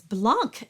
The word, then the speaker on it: blanc: by very quickly because if you get it wrong in the other way and you get blah and you put in C at the end it's Blanc and that is completely wrong in French the C is not pronounced and in this case